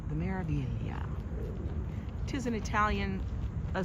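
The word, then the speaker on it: Meraviglia: We are going on the Maravilia. The MSC Maravilia. It has a G in there like Miralia, but you don't pronounce the G. The Maravilia.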